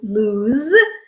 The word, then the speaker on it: lose: S sound okay so they sound alike but they don't sound the same the vowel sound is the same but the consonant sound at the end is different one is a voiced sound in lose and the other one is an unvoiced sound loose okay so the adjective